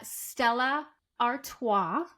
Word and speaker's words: Stella Artois: Okay, so my next one is the Stella Artois, apparently is how you pronounce it.